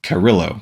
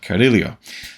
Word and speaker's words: Carrillo: the order commentary that he was very specific about how he wanted his name pronounced and I'm sure I'm not getting it perfectly correct but I would read it off the pages Leo Carrillo but it's uh carilio so this character is